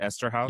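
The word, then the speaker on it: Eszterhas: Esther House. Esther. Is that how you say it? Esther House.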